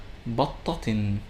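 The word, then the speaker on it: بطةٍ: For example, the word batta, which means duck, when it has tanween with dhamma, it is pronounced as battatun. When it has tanween with fatha, it is pronounced as battatan. And when it has tanween with kasra, it sounds as battatin.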